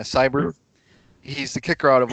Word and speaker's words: Seibert: he drafted Austin Siebert Seibert how we pronounce his name it's like a crowd yeah cyber he's the kicker out